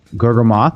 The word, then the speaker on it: Gurgamoth: you and for everyone watching uh this is G moth I said it right that time uh it's